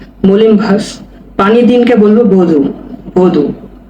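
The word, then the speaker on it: vodu: ভদু তখন বাক্য প্রয়োগ করলে ওই উচ্চারণ হবে না। ভদু হবে।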